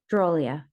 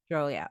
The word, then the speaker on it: Dhrolia: Dhrolia. Dhrolia.